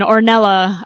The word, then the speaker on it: Ornella: Speaker seven, Ornella. I apologize for any misprononunciations. No, you pronounced it correctly.